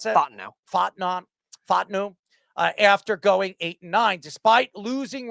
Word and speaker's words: Fontenot: Morris and general manager Terry how do you pronounce that? Fontenot.